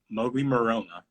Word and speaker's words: Mowgli Maroma: So Mowgli Maroma is how you pronounce it.